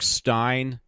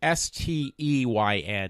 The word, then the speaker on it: Steyn: And Stein is Steyn. It's kind of weird how it's spelled.